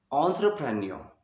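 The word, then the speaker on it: entrepreneur: इसकी सबसे पहले मैं आपको प्रोनाउंसिएशन बताता हूँ ब्रिटिश में। एंटरप्रेन्योर, ठीक है।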